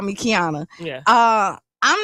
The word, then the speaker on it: Qiana: Uh when people look at my name, sometimes they can't pronounce it because it's the Q without the U.